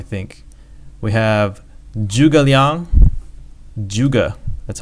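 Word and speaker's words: 诸葛: We have Zhuge Liang, Zhuge, that's how you pronounce it, Zhuge Liang.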